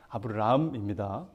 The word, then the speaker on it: 아브람: 제가 발음할 때는 아브람인지 아브라함인지 좀 헷갈리시겠지만 아브람입니다.